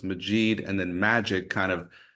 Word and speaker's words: Majeed: kind of repeat the first name so it's maid and then magic kind of helps you remember Majid magic so you're either going to remember magic or you're going to remember maid you don't need to remember mban then I